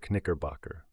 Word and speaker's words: Knickerbocker: the life active red-haired her Knickerbocker pronounce the k please once a musical comedy